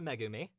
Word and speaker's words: Megumi: it was two syllables it's technically three it's a megumi okay well i they